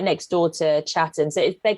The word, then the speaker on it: Chatham: a a town called chatham except no one pronounces the t so you call it chatham chatham and you don't say